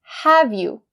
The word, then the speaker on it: have you: The first pronunciation point is the connecting between have and you. We'll say, have you, have you. For the word have, we have the final sound as the v sound, right?